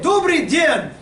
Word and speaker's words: Добрый день: Everyone say, Dobry den. Добрый день. Yes, now if we're different time of day, it would be different, but it's very good pronunciation, madam. And then спасибо.